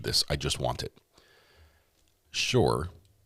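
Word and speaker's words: Shure: Shore, which is spelled S H U R E, which makes great great microphones.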